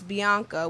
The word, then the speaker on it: B.ANKHA: my name is spelled my artist name is spelled B period a and K H a all together if you say it it's Bianca which is my real